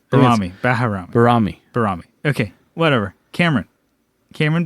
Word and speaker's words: Baharami: Barami? Baharami.